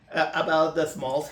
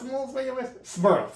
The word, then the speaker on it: Smurl: to be about the Smalls haunting? I think it was Smurl. Sorry, I was saying it, but I was saying it wrong. It's the Smurl family.